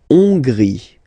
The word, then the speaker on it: Hongrie: La Hongrie. So remember, H doesn't exist, so you don't pronounce it. So it starts with on, and then gris. Final not pronounced.